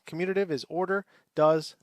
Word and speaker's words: commutative: c-o-m-m-u-t-a-t-i-v-e the commutative property commutative property is is commutative say it right commutative this says that if